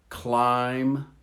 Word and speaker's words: climb: them in red lamb climb notice you don't hear the p or the b cupboard photo receipt psychology